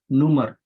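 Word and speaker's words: Nummer: that is a difference is not number here it is numer okay and the pronunciation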